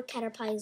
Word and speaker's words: Caterpie: I'm sorry if I pronounce Caterpie or Caterpie's name wrongly, because I don't know how to say it. It's Caterpie. Caterpie? For sure. Yeah, that's what they say in the cartoons.